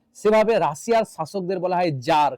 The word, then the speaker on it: tsar: এক সময় কোন এক জারের, TSAR জার বললাম, জারের মনে হলো, এখানে অকার্ড